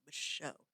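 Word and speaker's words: Micheaux: Yes, the X, that's how you pronounce his last name, Michelle.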